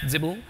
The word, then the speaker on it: XBL: It's kind of similar to what XBL, or as I've discovered today is pronounced Zibble, can do, but it's